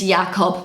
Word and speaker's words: Jakob: at the end is pronounced with a Kob. So I just think these sound totally different. So just say your name is Jakob, pronounced the German way,